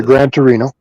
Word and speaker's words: Gran Torino: Have you ever seen that movie Gran Tur Gran Torino or Grant How do you say it? Yeah, Gran Torino.